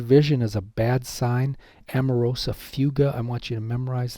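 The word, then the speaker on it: amaurosis fugax: out for this one amarosa fuga that's the way it's pronounced it's called shade drawn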